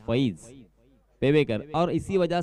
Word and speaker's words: फईज: देखिए, अलग अलग तरह के नाम होते हैं, कभी फाइज भी होता है और यहाँ पे फईज पेवेकर, और इसी वजह